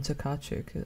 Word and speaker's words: Tokarczuk: Like, so for anyone who doesn't know, she is the translator for Olga Tokarczuk, I believe is how you pronounce the surname.